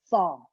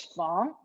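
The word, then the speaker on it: 房: So there are 2 ways to pronounce the word room. One is fong. This is in the original tone. The other one is fong.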